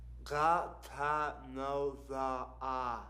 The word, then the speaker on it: Ghatanothoa: The man asks Wes his name, and upon receiving the answer, tells Wes to clamp his tongue with his fingers to pronounce his name correctly. Now, repeat after me. Got another one. Ghatanothoa.